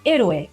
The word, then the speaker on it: héroe: And what about héroe, hero, and honesto, honest? They start with the silent H too.